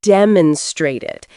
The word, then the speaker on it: demonstrate: Focus on the word demonstrated. It's demonstrate with stress on the middle syllable.